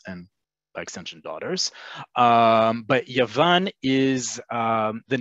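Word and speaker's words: יוון: Greek is Yavani. The Greek language is Yavanit, and that's all you're going to see.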